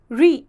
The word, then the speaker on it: ऋ: इसका उच्चारण होता है री, इसका उच्चारण होता है री।